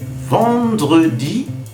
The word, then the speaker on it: vendredi: Vendredi. Escuchen bien, ¿eh? Vent, el sonido en, como el sonido de enfant, niño.